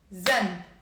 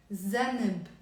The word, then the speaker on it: ذنب: It's a one syllable word. Say it with me. Zanb, zanb, or zanb, zanb, zanb. But even us as native speakers, sometimes when we have a one syllable word, we don't end up pronouncing it zanb. We add like a little like a vowel sound to it to make it easier to pronounce.